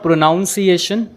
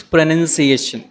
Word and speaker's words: pronunciation: need to learn here it इज नॉट प्रोनाउंस प्रशन इट इज प्रोनंसिएशन सो the correct प्रोनंसिएशन ऑफ प्रोनंसिएशन इज प्रोनंसिएशन the correct प्रोनंसिएशन ऑफ प्रोनंसिएशन इज प्रोनंसिएशन some people से इ प्रोनाउंस ation but इट is incorrect right वो प्रोनाउंस एशन नहीं है व प्रोनंसिएशन है so there are some